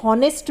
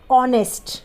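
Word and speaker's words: honest: ए एस टी बहुत से लोग इसे ऑनेस्ट भी बोलते हैं जो की बिल्कुल गलत है इसका सही प्रनंसीएशन है ऑनेस्ट देखिए ऑनेस्ट में ह ए रहा है लेकिन यहां पर ह क्या है साइलेंट है यानी की हम ह को नहीं बोलते हैं हम क्या बोलते हैं ऑनेस्ट बोलते हैं उसी तरीके से ह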